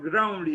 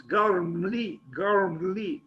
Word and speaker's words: Gormley: have that H, and because after G is O, not R. Somehow I always say Anthony Gormley, but it's not Gormley, it's Gormley, even difficult to pronounce, I think.